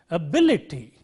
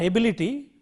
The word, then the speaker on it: ability: So, the right way of pronouncing this word is ability, not ability. When you say ability, the stress is on the first syllable, but it is ability.